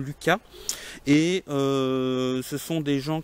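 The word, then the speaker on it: Lusca: Donc le Lucas, ça s'écrit L-U-S-C-A, je pense que ça se prononce quand même Lucas, et ce sont des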